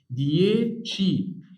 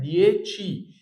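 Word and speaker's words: dieci: اطه يعني مانيه نوفي هنا اقرا دي ازاي قسمها قسمها كده في النقطه ديشي اسم ايه تاني ي قول معايا ديشي ديتش يعني عش طب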